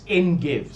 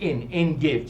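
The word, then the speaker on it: Ein Gev: on that kibbutz, Kibbutz En Gev, spelled Ein, E-I-N, but pronounced En Gev, G-E-V.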